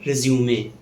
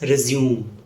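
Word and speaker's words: résumé: Next word is resume. Yes, this is the correct pronunciation, resume. It is often mispronounced as resume. Resume is a different word which means to continue something after a brief pause.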